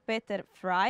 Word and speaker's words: Peter Frey: here all the way from Germany uh Dr Peter fry am I pronouncing it correctly very good okay thank you